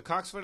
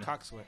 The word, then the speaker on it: coxswain: Coxswain. Coxswain. Coxswain? Coxswain. It's spelled coxswain, but it's coxswain. Coxswain. Like boatswain is bosun.